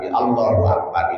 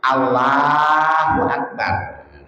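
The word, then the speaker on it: الله أكبر: Lafaz Allahnya itu harus roh lafaz Allah juga harus takhim. Allah tebal. Jangan tarkik. Allahu Akbar. Jangan tarkik namanya. Halus tebel tafhim. Allahu Akbar.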